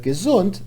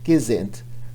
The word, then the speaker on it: gesund: In that dialect, instead of gesund, they say gesinnt. But gesund doesn't rhyme with kind, so we'll stick to the original dialect for this rhyme.